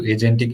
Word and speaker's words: agentic: as well, and It's also related to agentic AI.